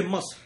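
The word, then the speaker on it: مصر: That's strangely enough, the exact same pronunciation as the Arabic or Ashuric used in present-day Egypt for Egypt, Miss. They say Musr.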